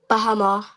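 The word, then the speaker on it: בהמה: Now, Ayala, could you tell us how we would pronounce this first word in the Hebrew? Beasts. Khan. Bahama.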